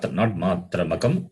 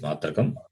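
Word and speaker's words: मात्रकम्: It's not matramakam, it is matrakam.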